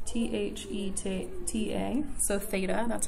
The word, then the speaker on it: theta: that's a Greek and it's the2 ta so theta that's how you pronounce that and to label the sides in